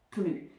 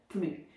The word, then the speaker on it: plus: utilisée avec plus ne plus attention ne prononce pas le S ne plus donc ça va être